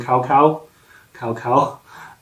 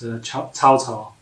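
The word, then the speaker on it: 曹操: Most people who don't know his name already would often call him Cao Cao, but he did pronounce it correctly as Cao Cao.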